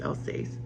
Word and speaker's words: Alsace: Alsace in English and the way I pronounce it now is I'll says it was probably pronounced differently at that time but they lived there